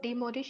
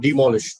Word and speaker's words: demolish: Sir, antonym of demolish is construct. Not demolish, demolish. Demolish. Yes. Demolish, basically, demolish is how we pronounce the word.